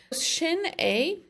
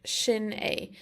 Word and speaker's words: sin é: Shin A means that's it. Shin A. So the shin is literally pronounced like your shin on your leg.